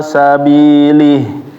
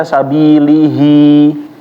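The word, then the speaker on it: سبيله: tadi kita perhatikan ya bacanya kalau Stop jangan dibaca sabilihi tapi dibacanya sabili Kenapa dia dibaca kalau dibaca sambung baru ada dua harakatnya tapi kalau dibacanya maka dia mati ya ggak ada Hnya ba sekali lagi inakaam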